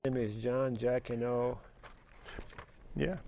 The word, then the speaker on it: Jacyno: with you uh your your name is John Jacko yeah jaino is one of the ways people pronounce it the way I pronounce it as jino but Jacko is good jino where's that name that uh